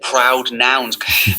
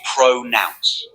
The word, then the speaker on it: pronounce: You said proud nouns. Oh. But the word is pronounce. One word. Not two words.